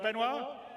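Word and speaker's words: Benoit: waffling on I'd like to bring C's CTO benoir bz did I say it right benoir yeah okay good I'm always bad with surnames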